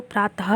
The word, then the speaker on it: प्रातः: इसके उच्चारण में हल्की सी जो ह की ध्वनि होती है, जब हम विसर्ग का उच्चारण करेंगे तो हमें आवाज़ जो है वो ह के रूप में आएगी। जैसे प्रातः को प्रातः उच्चारित किया जाता है।